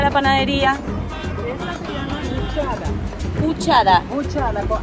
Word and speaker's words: Huchada: panadería esta se llama huchada huchada huchada con h h u c h a d a huchada ucha ustedes lo van a pronunciar huchada pero ah en pamiento sí se pronuncia la H Ah huchada con h